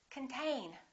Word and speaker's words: contain: repeat after me control the next one is the same this o is reduced this syllable is stressed contain repeat contain let's look at this one